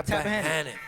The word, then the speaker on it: Tappahannock: Tappahannock? Yeah, Tappahannock. Did I Shout out pronounce to it right?